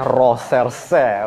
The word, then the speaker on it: Recherche: Meskipun tulisannya Reserse, katanya bacanya Roserse. Oh, aduh, bahasanya dari bahasa Prancis, berkelas sekali guys.